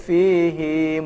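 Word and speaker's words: فيه: Di ayat itu pada umumnya pada kata fihi itu dipendekkan cukup 1 harokat, namun khusus dalam surat Al-Furqan ayat 69 itu haknya dipanjangkan menjadi 2 harokat. Ya. Dan ini pengecualian dari pembacaan mad silah. Ya. Jadi dibacanya menjadi wa yakhlud fihi muhana. Inilah penjelasan tentang hukum mad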